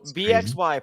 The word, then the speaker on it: bxy: that oh uh so bxy pronounced like boy is a gender that